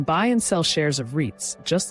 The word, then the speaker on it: REITs: REITs, pronounced REITs, offer a completely different and often far more accessible entry point into the world of real estate.